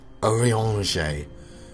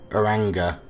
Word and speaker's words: Urianger: Urianger. Yeah, I definitely would have pronounced that incorrectly. I would have called him Uranga.